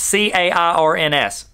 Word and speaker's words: Cairns: Today's quote is by Scott, I'm going to say it wrong, Cairns, C-A-I-R-N-S. Cairns, say it with me now. That's how you say it.